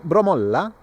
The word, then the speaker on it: Bromölla: as like Bromölla, but here they have the emphasis on the last, what do you call it, Cha? The last part of a word? No, what do you call the last part of a word? Syllable. Is it a syllable? Yeah, so like the last syllable is sometimes extended and more powerful.